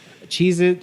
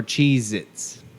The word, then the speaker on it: Cheez-It: Cheez-It or Cheez-Its? Oh, dude. It's Cheez-It. Yeah, there's no Z at Yeah.